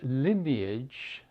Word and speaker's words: lineage: Line, when it becomes lineage, the E is pronounced.